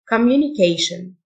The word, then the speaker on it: communication: Accent Accent يحتفل celebrate celebrate اتصال communication TIO إن تنطقشن communication محادثة conversation TIO إن